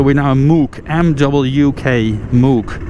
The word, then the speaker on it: Mook: So we're now in Mook, M-W-K, Mook. You pronounce it like Mook.